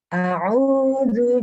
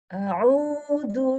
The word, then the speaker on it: A'udzu: Coba Ibu fokus di zu. A'udzu. Yang lain bacanya sudah bagus. A'udzu. Oke, nah gitu. Jadi tadi pas Ibu baca yang ketiga ini, Ibu sempat saya dengarnya Ibu bilang a'udzu. Jadi hampir masuk ke huruf da. Jadi a'udzu.